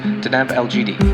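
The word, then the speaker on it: Deneb Algedi: The brightest star in the fairly dim constellation Capricornus is pronounced Deneb Elgidi, meaning tail of the goat.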